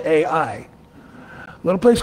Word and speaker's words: Ai: The next place that Israel was to take out was a little village, a little town called Ai, and it's spelled A-I.